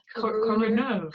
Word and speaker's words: CoroNERV: Is that how you pronounce it? Oh wow, I hadn't actually thought of that. CoroNERV.